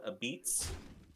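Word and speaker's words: apizza: They have it's a style called a beats, and that's how they say it, a beats.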